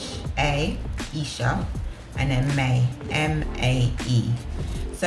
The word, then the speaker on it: iisha: So the name is iisha. It's spelled I-I-S-H-A, Isha, and then May, M-A-E.